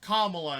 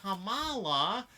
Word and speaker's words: Kamala: See, I can kind of agree with that, but if she's, like, telling people over and over again, like, it's pronounced Kamala, and they're just like, Kamala?